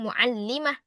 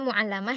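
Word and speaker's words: معلمة: Dan dia seorang muallimah. Akhwat ini jangan dibaca muallamah ya karena harakatnya itu terletak di bawah tasydid. Kalau di bawah tasydid itu artinya ee kasrah ya ikhwat.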